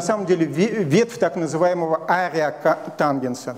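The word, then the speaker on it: ареатангенс: Это на самом деле ветвь так называемого ария тангенса. Там арк нет, там ария тангенс, он так произносится.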